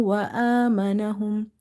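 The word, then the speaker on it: وَآمَنَهُمْ: Wow fatha wa, hamza vertical fatha a. Vertical harakat are your long vowels. So, you have to read them by stretching up to one alif. Wa amanahum. Meem fatha ma, noon fatha na. Ma na. Ha meem damma hum.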